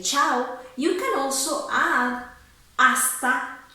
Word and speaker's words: chau: Chau is very similar to the Italian ciao, but instead of an O at the end, you have a U.